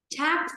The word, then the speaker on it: chapped: cuối đó này cô chapped skin. Chapped. Chapped. Đừng có đọc chẹp, mà cũng có đọc chạp, mà đọc là e be này.